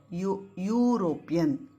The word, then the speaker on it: European: Again, E is not a consonant, but when we pronounce it, the sound appears here, European.